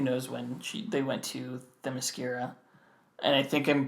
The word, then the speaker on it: Themyscira: She's ageless, but I mean, who knows when they went to Themyscira, and I think I'm pronouncing that one right. Themyscira. I know a long time ago I pronounced it Themyscira, like mascara.